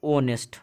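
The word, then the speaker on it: honest: साथ समझेंगे पहले तो हमारा क्या ऑनेस्ट हमारा ह यहां पर हमारा साइलेंट है आपको लग रहा होगा की यह तो ह से स्टार्ट है इसको हमारा कौन सा है तो कंसोनेंट स्टार्ट है तो हमें तो उसे करना चाहिए लेकिन गलत करना हमारा गलत है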